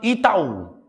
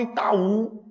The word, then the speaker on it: Itaú: aí lucra milhões eu vou separar a palavra Itaú com vocês se separa assim ó e tá um o estar sozinho sim ou não o estar sozinho por isso que eu tenho que colocar um acento se eu não colocar um acento não fica mais Itaú fica como e